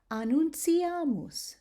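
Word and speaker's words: annuntiamus: Okay, so now when you have a T and it's followed by an I and either an A or an O, then you're going to pronounce it as ts, ts, as in the words gratia or pontio or annunciamus. Do you hear that I'm giving it the ts sound?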